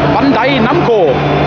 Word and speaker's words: Bandai Namco: Ich jetzt überhaupt verstehen kann, wir gehen jetzt nach Bandai Namco. So, ich habe es endlich mal richtig ausgesprochen.